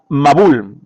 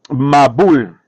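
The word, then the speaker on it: מבול: La palabra hebrea para diluvio es mabul. Mabul, así se pronuncia, mabul.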